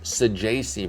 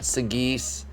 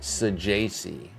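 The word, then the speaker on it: Saggese: Sajasi. Not Sagis. Not Sagassi. I've heard some hilarious pronunciations for this. I've said some myself. Because he was on one of my OOTP sims a couple years ago. But it is Sajasi.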